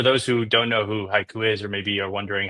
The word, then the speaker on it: HYCU: product marketing here at Haiku. Very very excited about this. And for those who don't know who Haiku is or maybe are wondering how do you pronounce that? Is it a Japanese poem?